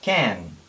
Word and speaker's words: can: saber verbo modal y se pronuncia can también entre a y e verdad Esta es una